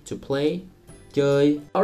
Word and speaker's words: chơi: So you get that sound if you say O, and then you relax your lips. As in chơi, to play, chơi.